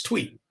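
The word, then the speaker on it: Thuy: about uh tweet trang a lot of people don't know how to pronounce her first name it's tweet so um looking at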